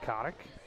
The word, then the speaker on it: Kotick: Kottich, but pronounced Kotick.